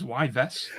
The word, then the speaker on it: Yves: pronounce Eve's Guillemot. He just looked at GMT and was like, it's the same thing. Who's Eves? It's Yves.